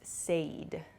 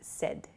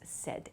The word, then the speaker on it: said: Please be careful of your pronunciation with the word said. A lot of people I've heard use said. Said is not correct. So, please use said.